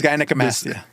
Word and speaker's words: gynecomastia: Oh, the scientific term is gynecomastia.